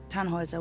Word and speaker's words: Tannhauser: what's your name Tannhauser we pronounce it tan Wazza with an armload German